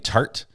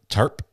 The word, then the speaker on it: tarp: She is saying tart instead of tarp.